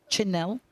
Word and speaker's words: Chanel: The reason is that they're both the hard CHs. Now, if you hear us saying that, not Chanel and not Cherry-Ann, that's because they're pronounced that way. Chanel and Cherry-Ann.